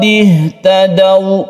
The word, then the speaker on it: ihtadaw: Fa in aslamu faqad ihtadaw, faqad ihtadaw, membacanya satu alif saja.